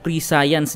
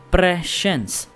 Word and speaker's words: prescience: posibleng pangyayari sa hinaharap Ito nga guys ang prens not prescience guys ha Presence yun yung tamang pronunciation guys Dito nga in-explain ni